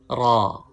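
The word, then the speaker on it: راء: Please read with full sound. Thick sound.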